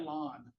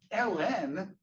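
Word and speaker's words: ln: Um, anyway, uh, anyway, I call that lawn. What do you guys call this? Ellen. So, you use two syllables. So, that's called Ellen.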